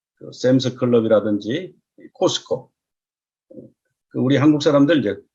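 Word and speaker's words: Costco: 지금 이 사진은 이 미국의 이 샘스 클럽이라든지 코스코, 우리 한국 사람들 이제 코스트코라고 그러는데, 근데 트 발음은 원래 묵음입니다. 나이프를 크나이프라고 안 하는 것처럼 이제 코스코 또는 카스코 이래야 되는데, 언론에서든지 어디서든지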